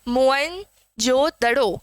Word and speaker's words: मोहनजोदड़ो: देखिए सबसे पहले तो मोहन जोदड़ो का जो सही उच्चारण है वो है मोईन जोड़ो क्या है mohenjodaroh ठीक